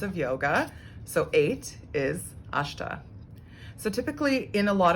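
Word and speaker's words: अष्ट: of the time but typically it will be pronounced as a sha as opposed to a soft s so those are the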